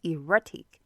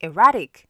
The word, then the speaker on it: erratic: I used to think it was erratic, but it's actually erratic, okay? And, using the American accent, you don't have to sound the T, so you can say erratic, okay?